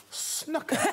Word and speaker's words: snooker: Desiree says snooker. Like cooker.